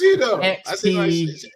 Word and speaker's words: pseudo: e u d o silent P silent p bro he said an X at the start before man now he's changed it no I didn't say an X it's Pudo he said silent so